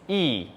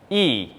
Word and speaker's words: ㅣ: And the flat vertical line is e, e.